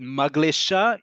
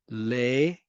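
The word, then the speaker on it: מגלשה: If you said maglesha, you would be correct. The word is maglesha.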